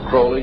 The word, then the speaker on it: Crowley: about was aliser Crawley he likes to have his name pronounced Crowley to rhyme with holy and uh the satanists